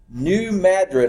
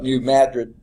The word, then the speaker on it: New Madrid: to, but in a region near New Madrid, I think is how they pronounce it. In Spain it's called Madrid. I think there they call it New Madrid, Missouri, in 1811.